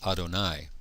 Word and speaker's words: Adonai: name yod he VAV when I read it I will pronounce it as Adonai this is the way that the Jewish tradition and the Rabin tradition pronounced the Divine name when I translate it